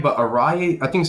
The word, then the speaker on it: Arya: first name right, but Araya, I think it's Araya Davari. I know it's Davari, but the first name I don't know how to pronounce that. I think it's Araya. Arya, yeah. Arya Davari.